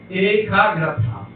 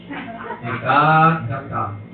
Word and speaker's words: Ekagrata: Wilson me fala do Ekagrata. Não fala assim não, a pronúncia é outra. Ekagrata.